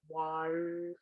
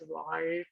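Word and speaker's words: வாழ்க: So when we do that, the way to pronounce this word is you have to fold the tongue and touch the upper palate and say R.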